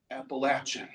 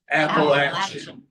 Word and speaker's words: Appalachian: And if you're going to be talking about it, you best be saying it right. How do you say it? Appalachin. Can you all say that with me? Appalachin.